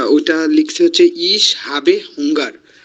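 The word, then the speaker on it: Hunger: ইশ বাইল ইশ হাঙ্গার হাবে হুঙ্গা হুঙ্গা উচ্চারণটা হচ্ছে হুঙ্গা ও স্যার হুঙ্গার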